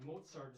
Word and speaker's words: Mozart: Just like Mozart is spelled without a T, but you pronounce a T.